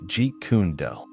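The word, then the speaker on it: Jeet Kune Do: the Mastery of JKD pronounced like G kundo hello martial arts enthusiasts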